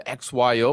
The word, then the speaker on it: XYO: say the abbreviation the xyo or is it like zo or Z call X yo because it stands for XY Oracle because it's a a location